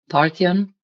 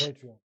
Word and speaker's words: Patreon: If you can please go to my um Parthian, I'll pronounce it, Parthian page, Patreon.